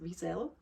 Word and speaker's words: Wiesel: The book that I would recommend is Elie Wiesel's, or as in English he's pronounced Wiesel, Night.